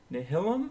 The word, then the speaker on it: Nihilum: our time here, it's Nihilum or Nihilium. How do I pronounce this? It's from Latin, so it's pronounced how it's written.